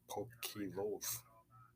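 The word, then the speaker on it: ποικίλος: Which in the Greek is pronounced pokilos.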